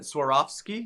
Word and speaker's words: Swarovski: about these before and it's so hard to pronounce but i'm gonna try the swarovski crystals yeah i think you got it swarovski yeah okay um they had a display case